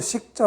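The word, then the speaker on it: 食: 자, 먹을 식자 보시면요, 요거는 먹는다 할 때는 먹을 식, 사역 동사로, 먹인다 할 때는 먹일 사, 이렇게 발음합니다. 그 다음 밥이라고 할 때도 밥사라고 했습니다.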